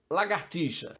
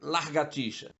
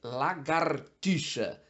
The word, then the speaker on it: lagartixa: onde colocar o r como lagartixa ou largatixa esse animalzinho é da família dos Lagartos portanto é lagartixa R na segunda sílaba não na primeira outra palavra que existe